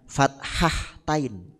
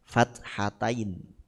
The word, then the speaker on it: fathatain: tanwin jadi fathatain jangan fathahtain Nah itu salah ng fathatain fathah du fathah dua